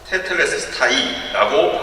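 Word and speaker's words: τετέλεσται: 다 이루었다는 말에 히라보 원어로는 테텔레스타이라고 발음합니다. 19세기 유명한 설교가 찰스 스펄전이 이 말씀이 너무 심오하다고 해서 이렇게 말한 적이 있습니다.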